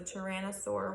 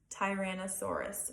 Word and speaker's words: Tyrannosaurus: One of the most dangerous dinosaurs was the Tyrannosaurus Rex. Yes, I did mispronounce the word Tyrannosaurus, but the correct pronunciation is Tyrannosaurus Rex.